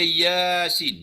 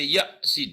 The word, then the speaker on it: Yasin: Kena baca Yasin. Jangan baca Yasin. Salah. Kena baca Ya. Y-A-Ya saja. Ya tu 2 harakat. Sin itu dibaca dengan 6 harakat.